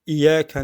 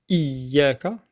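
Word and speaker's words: إِيَّاكَ: On dit iyyaka na'budu parce que c'est plus facile. Et dire iyyaka na'budu wa iyyaka nasta'in. Il faut faire l'effort de bien prononcer le ya mushaddada. Donc iyyaka, donc le i, c'est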